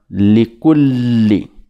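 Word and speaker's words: لكل: li à la fin, on s'appuie dessus en disant likulli. Wailun likulli. Wailun likulli. En s'appuyant sur la lettre li.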